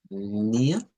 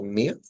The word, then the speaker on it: mir: el dativo es otra el nativo es por ejemplo eh mía es puede ser como mía Aunque algunos también lo pueden pronunciar con r como mir eh Qué es me